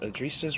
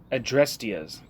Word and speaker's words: Adrestia's: Adrisa's Revolt? Adrestia's. Jesus Christ, I've been saying it wrong.